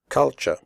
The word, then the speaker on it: culture: the word culture correctly the first you is pronounced like the uh in but and the last syllable is pronounced ch here are some other